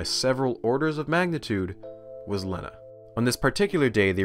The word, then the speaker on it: Lena: Lena's name is only spelled with one N, by the way, but she asked that her name be printed with two so no one would mispronounce it as Lena.